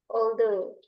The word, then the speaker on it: although: Jadi yang belakangnya ini kita oldo. OG-nya O G sama H-nya ini enggak dibaca ya.